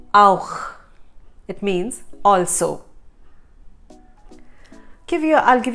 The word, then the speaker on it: auch: No, it's not ouch. That is pronounced as auch. Auch. So the CH at the end is ch from the epiglottis.